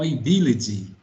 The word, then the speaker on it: ability: A vai virar A, e o T aqui vai virar D. Então, ability.